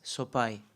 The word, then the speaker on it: Sopaj: so people were confused it's soai in Albania the J uh in the end it's like I soai so the J belongs